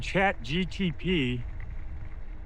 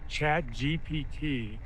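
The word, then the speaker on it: ChatGPT: And Chat GTP, I keep saying it wrong. Chat GPT is the one that's probably gotten the most press.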